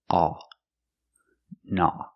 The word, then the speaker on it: gnaw: Remember the G is silent because it's at the beginning of the word with gn together. No. The aw makes a sound a like ball and call. A naw.